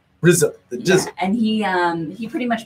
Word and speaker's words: RZA: Wu-Tang Clan actually started with, I think it's pronounced RZA. RZA.